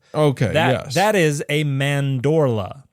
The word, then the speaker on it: mandorla: I think Have you're you heard that pronouncing it word? wrong. Mandala. No. Mandorlian. No, The Mandorlian. Mandorlian. No, a mandorla is an almond shape.